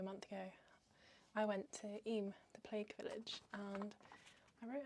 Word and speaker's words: Eyam: I kept saying em, but then I heard someone say E, so I now feel weird.